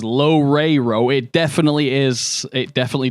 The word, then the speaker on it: Loureiro: Is pronounces Loureiro.